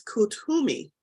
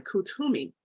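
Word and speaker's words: Koot Hoomi: know let's see ah I did mispronounce it pronounce kutumi k-o-ot hyphen h-u-m-i kutumi is in ascended master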